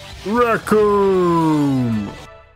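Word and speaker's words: Recoome: His name rhymes with doom. Raccoon!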